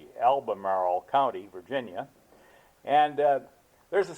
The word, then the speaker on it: Albemarle: It's Albemarle, Albemarle County, Virginia.